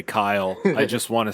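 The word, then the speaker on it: Khy'le: like all fantasy yeah it's k h y apostrophe l e so it's Kyle but fantasy nice um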